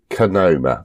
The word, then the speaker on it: Kohima: I think it's fair to say that Kohima is pronounced Kohima.